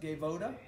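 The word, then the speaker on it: Gaivota: we found this brand out of brazil it's pronounced gaevoda g-a-i-v-o-t-a and these are really soft and supple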